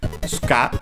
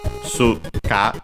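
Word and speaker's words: スカ: an enemy with nothing, Ska, Su-ka, of course, then the U between the unvoiced consonants becomes barely heard if at all, accented on the last syllable, also because most likely of that.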